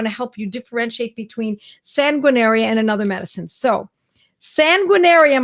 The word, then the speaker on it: Sanguinaria: It is phonetic. It's exactly how it looks.